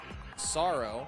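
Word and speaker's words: Psaro: So in Dragon Quest IV, the main antagonist was Sorrow the Manslayer, pronounced Sorrow.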